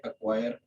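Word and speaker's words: acquire: नज़र आ रहा है वर्ड है एक्वायर। तो यहाँ पे सी जो है ये प्रोनाउंसिएट नहीं होती, यानी ये डायरेक्ट ए और क्यू की जो है वो आवाज़ आ रही है।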